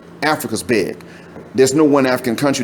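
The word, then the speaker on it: Baye: how to spell but then bi is spelled b-a-y-e look up these places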